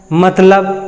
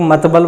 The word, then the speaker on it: मतलब: जैसे कोई शब्द है मतलब तो लोग मतबल बोल देते हैं, उच्चारण आगे पीछे कर देते हैं।